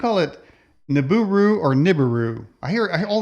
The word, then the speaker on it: Nibiru: It's Nibiru, which means planet of the crossing. Nibiru? Yeah, I don't really use the term, but that's how it's pronounced.